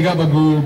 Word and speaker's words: capicola: version of the gabagu you say gabbagu but it's spelled capicola very long stretch i don't